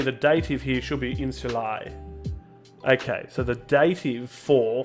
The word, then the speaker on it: insula: the ongoing correction right so that's referred to as a short u insula good uh pronunciation